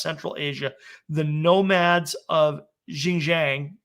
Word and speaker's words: Xinjiang: was discovered in i i gotta try to pronounce it correctly it should be jin jinjiang the xinjiang province of china which is